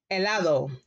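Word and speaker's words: helado: try it again hey h is always silent pronounce it letter j now for the uh vocabulary associated with this okay let's try class of the pizza cat gato ice cream elado igloo igloo cage voila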